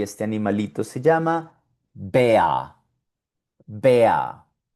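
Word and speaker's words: Bär: Y aquí tenemos un animalito en alemán donde también vemos la combinación de A umlaut con R y este animalito se llama Bea, Bea, y es un oso.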